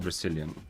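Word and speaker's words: Brecilien: Yes, it's called Brazilian. Not spelled the way Tosha spelled it, but uh the pronunciation is more or less that.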